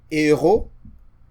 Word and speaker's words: héros: So the aspirate H, you try to pronounce it, but you don't pronounce it. So that's the kind of H you have in words like héros.